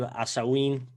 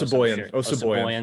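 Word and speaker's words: Osabuohien: Gabe Asawin, pronunciation check, not even close. Osaboyan. Thank you.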